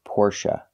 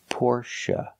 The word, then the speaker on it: Porsche: Porsche or Porsche now the last syllable is pronounced uh like Cup in up not a like say and pay but uh like cup and up Porche it's a relaxed sound the syllable is not stressed the stress is on the first syllable pora Porsche example I don't have